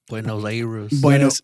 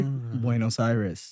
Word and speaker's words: Buenos Aires: If you say these 4 English words together, like linked together, you will achieve the perfect accent and pronounce the capital of Argentina perfectly. And the words are way, W-A-Y. Second word is no, N-O. Third word is side, S-I-D-E, side. But that word is emphasized, so you'll like really emphasize that word.